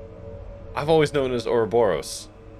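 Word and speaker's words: ouroboros: that's how it's pronounced there's no way it's pronounced aerobaros absolutely not I I refuse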